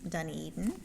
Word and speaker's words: Dunedin: Then we'll go with the dark brown, which is Dunedin. Oh, you pronounced it right.